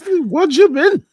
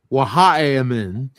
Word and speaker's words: Wajamin: But he actually told me that it's pronounced something different. Oh, so we all been duped. Yeah. Wajamin, how do you pronounce it properly? Wahamin.